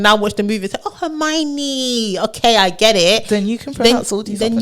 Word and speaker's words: Hermione: would die on because we all learned how to say Hermione and I read the books before I watched that I read it when I was 10 and for a long time I was calling a homie so like if I